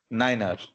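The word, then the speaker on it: niner: 9 को कभी भी 9 नहीं पढ़ना है, 9 को हमेशा पढ़ना है नाइनर। उसके अलावा बाकी जैसा आप बोलना चाहते हो आप बोलो, सिर्फ 9 को नाइनर बोलना है।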